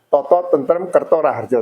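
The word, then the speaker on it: tata tentrem kerta raharja: Jadi bacanya totoo tentrem Kerto Raharjo.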